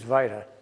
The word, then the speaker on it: vita: Everybody says vita, but the traditional pronunciation is vita. V-I-T-A. I adhere to the British old school pronunciation.